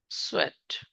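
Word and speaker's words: Tswett: So he actually separated different plant pigments by using the chromatography technique first time, and the name was sweat. T is silent here.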